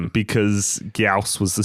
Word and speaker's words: Gyaos: And today's movie is Gameamra versus Gaus.